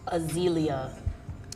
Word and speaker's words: Azealia: did i mention beautiful azalea banks and the proper pronunciation of your name is azealia uh zelia yeah a-z e-a-l-a-a i